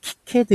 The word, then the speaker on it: KiCad: 이렇게 들어가 보시면요 어 우리나라에서이 카이라고 기도 하고요 보통 오리지널 외국인들은 그냥 키캐드 이렇게 부르더라고요 발음 나는 대로 뭐